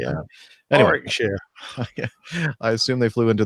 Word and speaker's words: Warwickshire: You don't say the second W. Warwickshire.